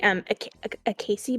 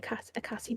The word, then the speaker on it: acai: earlier, because I knew I was going to mispronounce it. It is the acai berry, acai berry.